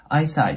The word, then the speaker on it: eyesight: なので、eyesight っていう感じでね